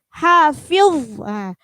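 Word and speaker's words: حافظ: Nah, jadi untuk membedakan hafiz, itu akhirannya dha apa dzal ya. Karena hafiz itu adalah akhirannya huruf dha, maka harus tebal.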